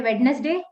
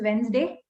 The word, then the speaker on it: Wednesday: We say witness day. It's Wednesday.